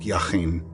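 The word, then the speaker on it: Jachin: The word jacen in Hebrew probably pronounced yahin and meant as a verbal noun he that strengthens and then firm stable upright.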